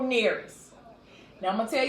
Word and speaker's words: Nearest: But today, we're going to bring up Uncle Norris. Uncle Nearest. I'm saying his name wrong, Lord. His name is Uncle Nearest.